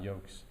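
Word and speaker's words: Joks: uh major general adam yokes and it's spelled j-a-j-o-k-s like looks like jocks it's adam yolks he's gonna be here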